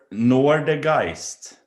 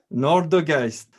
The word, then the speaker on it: Nårdegaist: So, what is a good pronunciation for Nårdegaist? Nårdegaist, tell me. Nårdegaist. Nårdegaist.